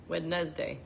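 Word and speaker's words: Wednesday: Wedz day. Wendes day. Wedz day. Wednes day. That's how I always remembered how to spell it.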